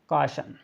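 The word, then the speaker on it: caution: तो इसको पढ़ेंगे हम कॉशन, कॉशन पढ़ेंगे, कॉशन, कॉशन पढ़ना है। तो यहाँ पर इसका सही उच्चारण होगा, हमने कहा था आओ पढ़ेंगे, मतलब जो कि कॉशन होगा।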